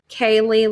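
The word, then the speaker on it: Kayleigh: pops up and um she says hello i'm kaylee lost that's spelled k a y l e i g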